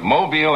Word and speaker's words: Mobile: I was down in Mobile, I have to say it right, Mobile, Alabama, for the Junior Miss Pageant last evening.